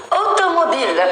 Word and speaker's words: automobile: دونك اون automobile. C'est un O fermé. Automobile. Automobile.